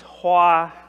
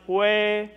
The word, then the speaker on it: hoa: Because in my culture, the word hoa has two pronunciations. One is hue, and the other one is hoa.